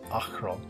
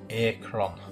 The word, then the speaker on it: Akron: the Canadian Actors as the character William pronounces the city of Akron Akron Ohio as a Corona yeah coming in next